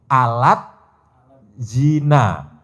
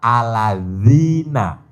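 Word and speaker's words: الذين: Jadi zal itu tulisan Latinnya DZ. Nah, the, bukan di, tapi the. Jadi kalau dibaca jadi alat zina. Nah, bacanya yang betul adalah aladzina.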